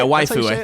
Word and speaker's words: waifu: white oh wait how do you say that waifu yeah waifu I've never actually said that out loud while